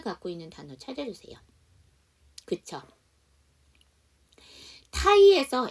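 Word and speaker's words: Thai: 있는 단어 찾아주세요 그죠 타이에서 h 묵음이야 안 그러면 따이 푸드가 돼야 되겠지 자 그다음 스트가인데 타임이죠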